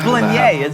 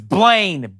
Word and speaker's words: Blaine: It's Blanier, is it a Joe Dirt situation? No, it's Blaine, and you know it.